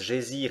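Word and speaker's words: Geysir: une hauteur de 10,3 le geyser mots que les islandais prononce gésir et qui signifie fureur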